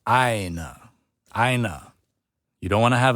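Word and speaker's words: ʻāina: And aina has the okina, and it has a kahako on the beginning a sound.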